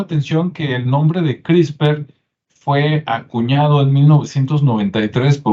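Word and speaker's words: CRISPR: una que es crisper se escribe CR y spr y se pronuncia crisper Y usted puede investigar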